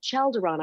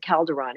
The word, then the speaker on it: Chalderon: And Red Eagle, I asked him about, it's spelled with a CH. So I said, Chalderon, I got this this guy Chalderon coming through, and he goes, oh, he's telling me he pronounces it Calderon, and yes, he's a